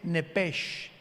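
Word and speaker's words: נפש: Los que quieran apuntarlo, la palabra alma en el hebreo es nepesh con sh al final, como suena nepes. Pero la sh en hebreo se pronuncia como J.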